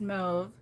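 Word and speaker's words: mauve: they can yes um mob m-a-u-v-e so we say mob but i can get it i get it i've heard it's pronounced move um you have that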